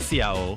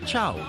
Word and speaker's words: ciao: Oh, and it's not Ciao, it's pronounced Chow.